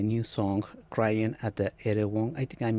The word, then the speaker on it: Erewhon: Let me start with the new song "Crying at the Erewhon." I think I'm mispronouncing the place, but No, you got it.